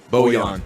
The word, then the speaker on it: Bojan: Bojan. Oh, I'm sorry. Yeah, these pronunciations are weird.